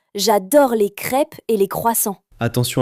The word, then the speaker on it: croissant: Alors moi j'adore les croissants et les pains au chocolat. Attention, sujet dangereux en France. Oui, je sais. Et toi Nina, tu aimes la cuisine française ? Oui, j'adore les crêpes et les croissants.